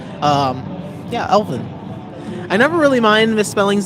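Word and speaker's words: Elvan: Um, is it spelled Oh, my name is Oh, it's spelled E L V A N. E L V A N. Um, yeah. Elvin.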